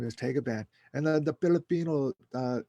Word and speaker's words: Tagaban: my last name is tagaban and then the filipino uh in the philippines they pronounced it as the goblin the goblin and my grandfather comes